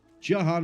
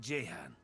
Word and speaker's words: Jahan: I could have sworn in Original Sin 1 it was pronounced Jahan. Not Jahan. Because I kept pronouncing it as Jahan.